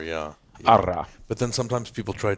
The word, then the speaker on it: Ara: I always say Ara, if you Ara. Can roll the R, yeah. Yeah. Ara.